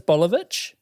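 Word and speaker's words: Boljević: Three of the most well-known I've got a friend whose last name is Bolivich. Okay. His last name is Bolivich and it's spelled B O L J E V I C.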